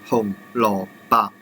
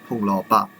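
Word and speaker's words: 紅蘿蔔: So for these orange vegetables, it is 紅蘿蔔, 紅蘿蔔. But for the white one, it is pronounced as 蘿蔔, 蘿蔔.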